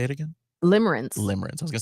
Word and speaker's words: limerence: Limerence.